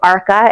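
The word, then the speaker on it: Arka: They're saying it's spelled A R K A and I'm saying ARCA.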